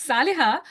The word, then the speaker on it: Saliha: into pieces but uh I'm grateful for that pronunciation it is the closest it can get it's it's Sal okay okay Sal yes